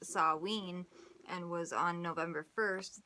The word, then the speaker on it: Samhain: Samhain, pronounced Samhain, and was on November 1st.